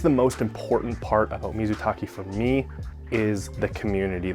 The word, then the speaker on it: mizutaki: I pronounced it mizuake. It is not mizuake.